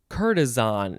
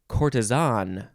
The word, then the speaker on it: courtesan: cortisone or cortisone or courtesan you know a few ways to pronounce those syllables and then the the british say courtesan they emphasize the last syllable it is a noun